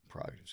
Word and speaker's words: prerogative: I like prerogative. Pause. Prerogative's good. A lot of people don't know that first R in there.